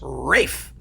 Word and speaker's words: Ralph: Oh, but wait, it's not Ralph, is it? It's Rafe. Who is going to know unless someone told you specifically from somewhere that the way to pronounce his name is Rafe and not Ralph?